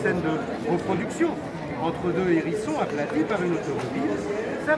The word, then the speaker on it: hérisson: Un petit plus du muséum, comme vous le savez, dans sa version courante, le mot hérisson se prononce avec un H aspiré.